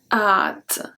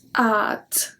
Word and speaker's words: hâte: going to be conjugated most likely and then at so we don't pronounce the ash and then the axon circumflex is a soft up so it's at and we finish by the t because we